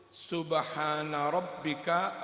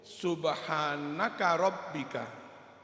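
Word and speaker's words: سبحان ربك: doa mereka dengan mengucapkan "subhana rabbika rabbil izzati amma yasifun," padahal seharusnya dibaca "subhana rabbika." Saya sering mendengar " subhanaka rabbika," yang tidak benar. Yang benar adalah "subhana rabbika", bukan "subhanaka rabbika".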